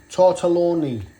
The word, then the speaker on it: tortelloni: First of all, we've got some, don't actually know how you pronounce that, ham and cheese, tortellino, how do you say that? Tortelloni.